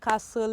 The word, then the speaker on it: castle: does a silent hell stuck in the castle is a silent t so many words with